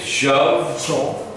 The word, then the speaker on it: shove: Shove. Shove. Of, like O-F, of, shove. Of, shove. V.